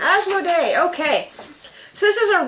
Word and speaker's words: Asmodee: timeline as done by how do you pronounce that Zach as this is asmod Day games asmo day okay so this is